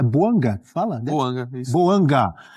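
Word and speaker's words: Bouanga: Buanga e Giru na temporada pelo Los Angeles FC. Giru, campeão do mundo, 17 jogos, três gols e duas assistências. E tá certo a minha pronúncia? É Boanga que fala, né?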